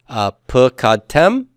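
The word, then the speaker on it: פְּקַדְתֶּם: And the accent on the tem and ten. So everybody, let's say these. Pukadtem and pukadten.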